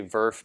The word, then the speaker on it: VRF: and what's after it sometimes it's just easier to say verff because there's a lot of